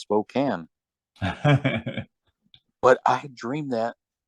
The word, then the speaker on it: Spokane: But what was funny is when I saw the sign, in my mind it said Spokane, Washington, and then come to find out it's pronounced Spokane.